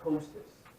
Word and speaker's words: ptosis: We call it ptosis. Right, the P is silent.